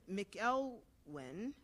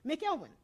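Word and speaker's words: McIlwain: few years ago, um, Carlton McElwin, MC, no, Melwin, I can never say his name. Melwin, that's right, wrote a book called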